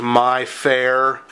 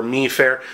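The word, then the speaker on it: MIFARE: you'll see them and I believe it's pronounced my fair and uh or meair uh these types of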